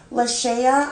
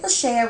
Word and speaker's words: Lashaya: this reading for um la shaya i believe is how you pronounce her name like i said lachey